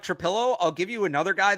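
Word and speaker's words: Trapilo: tackle, Taylor, Trapillo, I asked him how to pronounce Trapillo. it. Oh, it's Trapillo.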